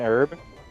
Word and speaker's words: herb: too why are you not saying the H in what word an herb an herb herb herbs and spices herbs and spices you say it how it's spelled like the B without